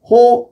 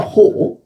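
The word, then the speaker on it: ὁ: 안티오코스 호 에피파네스. 호 에피파네스. 오가 아니라 호. 이제 그 발음을 강하게 하니까.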